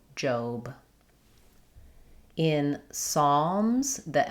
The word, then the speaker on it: Psalms: Psalms. Um, you can think about it like an A as well with a W. Psalms. The Z, the S sound at the end is a Z.